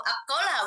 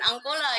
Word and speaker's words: Angkola: dialek angkola gitu kan kalau kita di pengucapannya itu adalah e akola bukan angkola gitu kan Nah seperti itu